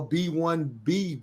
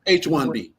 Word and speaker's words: H-1B: the back of a B-1B visa. I'm saying it right, Emil? H-1B. H-1B. I always get it wrong.